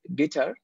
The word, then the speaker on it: guitar: আমি যদি বলি গিটার হবে না, ইটস গিটা, মানে এই ক্ষেত্রে সেকেন্ড সিলেবলের উপরে আমার প্রাইমারি মানে জোরটা পড়ে, সো উচ্চারণ হচ্ছে গিটা।